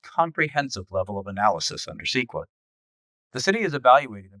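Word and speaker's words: CEQA: Environmental laws like the California Environmental Quality Act, pronounced SQA, also play a role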